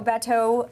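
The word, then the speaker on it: Bateau: restaurant and still going strong that's incredible so Beto which I had to double check on the pronunciation because I don't speak French but it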